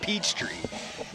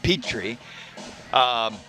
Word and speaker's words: Petrie: I always get it. I want to call it Peachtree. Petrie.